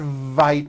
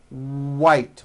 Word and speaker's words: white: It's not vite with a V, it's white with a W.